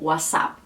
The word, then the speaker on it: WhatsApp: de cada dia é conhecido pela maioria dos estudantes como o as a o as a e essa p também quase não é pronunciada por que ela não vem seguida de nenhuma e depois então quando isso acontece não é comum que eles adicionem uma e como a gente faria